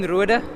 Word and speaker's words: Roder: I don't think I pronounced your surname quite correctly. What is it in Afrikaans? It's Roder.